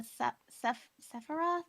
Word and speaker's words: Sephiroth: So I'm doing the Sephiroth. Is that how you Yeah, the pronounce it?